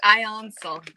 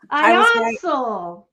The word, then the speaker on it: Ionsul: It's pronounced Ionsul. Ionsul.